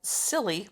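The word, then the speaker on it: Tsilly: a giant sea dragon called silly but that's spelled t-s-i-l-l-y silly what oh man i'm definitely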